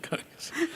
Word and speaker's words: kamikaze: Is that the way it is pronounced, kamikaze? Yeah, kamikaze. Yeah.